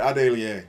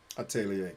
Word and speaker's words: atelier: aegis was good though atelier that's right adelie i'm missing some syllables thank you atelier thank you oh snap